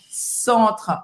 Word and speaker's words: centre: Então, on, centre, mais aberto. De novo, você não vai pronunciar o E no final.